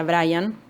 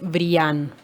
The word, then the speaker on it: brillan: ya aprovechó para aclarar que no se pronuncia bryant sino que es brillan en este personaje ustedes